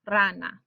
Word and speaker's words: rana: the spanish language so the word for frog is rana and you can hear the verbal stress falls on that r a that first syllable or second from last syllable rana or if we did